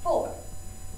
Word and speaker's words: fort: our masculine singular form four to make it feminine we added e up here in four we don't pronounce the T even though we still have to use it to spell the word in the feminine form